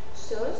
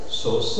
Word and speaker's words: sauce: Je te rappelle que au suivi de R dans la prononciation mort par exemple c'est ouvert. Mais sinon normalement au ça s'articule e fermé. exemple sauce sauce hate haute naé naé naé sauce haute nausée